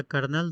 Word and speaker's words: colonel: पहला कर्नल, दूसरा कोलोनल, कर्नल, कोलोनल, कोलोनल बोलते हैं इसको।